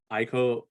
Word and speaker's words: Ico: But it surprised me in the sense that at that time I didn't play Ico or Eco, however you want to pronounce it.